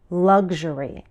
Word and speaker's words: luxury: I say this word with a G sound, g, followed by a ZH sound, zh. Luxury. But I've also heard Americans use a K sound, k, followed by an SH sound, sh, as in luxury.